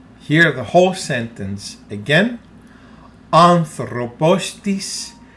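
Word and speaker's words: ἄνθρωπος: syllable of anthropos so this is how we pronounce it anthropos one more time anthropos it's pronounced like one word p again pay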